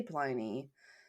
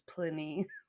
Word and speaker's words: Pliny: Yeah, Caesar and I always want to say Pliny. That's just always how I had pronounced it in my head, but I think you're right. It is Pliny.